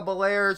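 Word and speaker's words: Belair: referee or an announcer pronounce her name Bianca bel-air she showed off all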